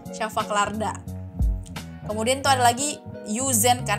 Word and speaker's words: yüzen: Kemudian itu ada lagi yüzen kan, ada U yang titik 2 di atas. Jadi kalau yang ada titik 2 di atas pokoknya bacanya mulutnya harus monyong. Jadi misalkan kan kalian mungkin bacanya yüzen kan, tapi harusnya dibacanya yüzen. Jadi bibirnya monyong.